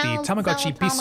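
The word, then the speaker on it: Tamagotchi P's: In November 2012, they released the Tamagotchi Peace. That's spelled like Tamagotchi P apostrophe S. So for English speakers, it's pronounced like peace. So Tamagotchi Peace.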